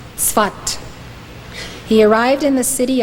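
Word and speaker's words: Safed: down but it is spelled s-a-f-e-d but it's pronounced svat he arrived in the city of svat in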